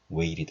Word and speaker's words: waited: T나 D가 지금 I도 모음이고 E도 모음이죠. 이렇게 모음 사이에 둘러싸여 있으면 발음이 약화가 됩니다. 그래서 waited, 디귿하고 리을 사이 발음 정도가 나는 거죠. waited all my life.